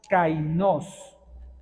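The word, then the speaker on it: καινός: alguien está tomando nota cainos con k y acento en la o qué significa esa palabra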